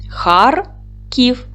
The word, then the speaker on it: Харків: Харків. Наголос падає на перший склад.